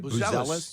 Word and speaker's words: Buzelis: Here was AK last night talking about the selection of Matas Buzelis. Am I saying it right? Buzelis. Yeah, Matas Buzelis.